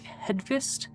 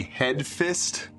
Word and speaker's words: Hedqvist: I just keep hearing head fist. It's Fist. Hedqvist. Yeah. Hedvist, yeah.